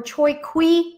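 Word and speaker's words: Choique: at the choice choice choice or TOI qui mine I hope I'm pronouncing that correctly it's spelled CH o i qu e which is a gold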